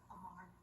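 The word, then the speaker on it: Amour: Amar. Amar. Yeah. So how do you spell that, Amar?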